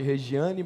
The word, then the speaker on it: Regiane: Aliás, pode chamar de Regiane, mas ele se pronuncia Regiane, né?